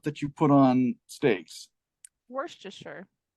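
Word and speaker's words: Worcester: you put on steaks Worster yes exactly Worster not Worchester Shire right so it's it's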